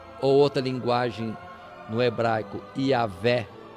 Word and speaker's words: Iavé: Quando coloca a palavra Jeová, ou outra linguagem no hebraico, Iavé, a palavra Jeová seria aportuguesada e Iavé procurando um som mais próprio lá da língua hebraica. O que é Iavé?